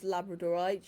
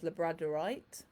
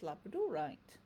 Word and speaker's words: labradorite: labrador dogs come from and i call this labradorite you may also hear it referred to as labradorite but for me if it comes from labrador it's labradorite so there you go